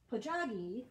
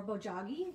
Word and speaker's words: bojagi: So I was inspired recently by some research on a Korean art form called bojagi or bojagi. You can pronounce it either way.